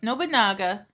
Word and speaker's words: Nobunaga: Nobunaga.